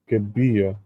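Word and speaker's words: Gibeah: I believe I'm pronouncing it wrong. Gib Giba. Oh, okay. I was right. Gabia.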